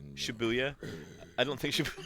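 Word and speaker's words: Shibuya: dangerous is okay yeah you say shabo you're wrong shabuya I don't think sh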